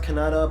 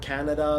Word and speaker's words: Kannada: I was told it's pronounced Kannada, but some people have said Canada, like what is it?